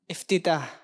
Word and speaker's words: افتتاح: افتتاح. جی ہاں یہ ہے تلفظ افتتاح.